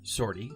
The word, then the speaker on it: 50R-T: canon it comes from 50rt pronounced shorty is a tactical droid